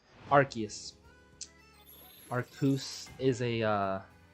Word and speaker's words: Arceus: It's pronounced Arceus. Watch the movie. That's how they say it in the anime, in the movie. Arceus.